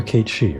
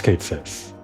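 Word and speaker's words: Cait Sith: You remember Kate Shei, right? No, it's Kate Sis. Either one is fine, I guess. I'm just going to go with Kate Sis cuz that's that was the Final Fantasy 7 pronunciation, the remake pronunciation.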